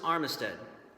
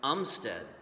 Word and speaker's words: Armistead: was a strange one his last name was pronounced Umstead so this is really